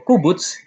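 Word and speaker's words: קֻבּוּץ: Sementara itu untuk u pendek atau kubuts diucapkan seperti dalam kata musnah.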